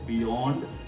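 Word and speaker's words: beyond: silent नहीं होता है सिर्फ तीन वर्ड है जहां पर वाई को बोला ही नहीं जाता जैसा फर्स्ट वर्ड है बियोंड प्रेयर एंड मेयर हमारा दूसरा रूल क्या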